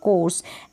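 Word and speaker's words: course: फिर ये है बोर्ड, क्या है, बोर्ड, और ये है कोर्स, एंड में जो ई है इसको आप प्रोनाउंस नहीं करेंगे, यहाँ पर ओ को,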